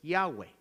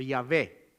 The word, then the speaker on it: Yahweh: Lo más cercano que nosotros tenemos a la pronunciación del nombre de Dios es Yahweh, Yahweh o Yahvé, Yahvé, que es la YHWH. Sería la pronunciación más cercana que nosotros podríamos tener, pero honestamente no sabemos si así se pronuncia.